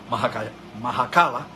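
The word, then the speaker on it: Makhachkala: en la ciudad de Machakala, creo que se pronuncia Mahakala es como debe pronunciarse, la ciudad de Mahakala,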